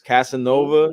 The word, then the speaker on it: Kaze Nova: If I was doing like hip hop club parties, it was DJ Casanova, but it's spelled Kaze Nova. So it's Casanova.